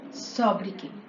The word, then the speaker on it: sobriquet: interesting topic named famous sabriki see here the spelling has t at the end but it is silent so it is pronounced